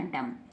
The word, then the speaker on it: dumb: क्या बन गया, डम। क्या बन गया, डम, DUM, डम। केवल डम पढ़ेंगे, बी को नहीं पढ़ेंगे।